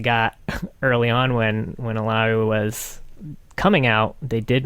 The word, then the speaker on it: Illaoi: oh she's gonna be it's gonna be pronounced like uh what was it like yowie yeah i thought it was a double handled like in spanish like a like a y for a double l and that i mean